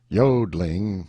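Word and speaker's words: jodling: warbling the yodling pronounced yodling emphasis on the o continued and was very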